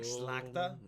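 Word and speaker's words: szlachta: I don't think so it's probably more like slackta like zlata but it's it's difficult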